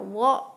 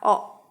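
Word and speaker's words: を: dan vokal a nah Kalo yang ini bacanya bisa wo bisa Oh gitu ya ini hanya digunakan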